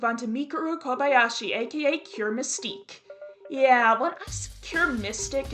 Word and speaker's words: Cure Mystique: Now, let's move on to Mikaru Kobayashi aka Cure Mystique. Yeah, when I cure mystic in the last video, I was wrong. In my defense, literally everyone else was also calling her Cure Mystic instead of Cure Mystique.